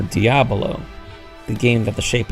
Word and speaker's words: diabolo: tells us about uses the common mispronunciation in diavolo meaning devil whereas it's normally meant to be Kramer diabolo the game that the